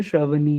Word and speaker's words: श्रावणी: श्रावणी, सही प्रोनाउंस कर रहा हूँ ना मैं? श्रवणी है, श्रावणी है? श्रावणी। ठीक है, श्रावणी आप हो मीटिंग में?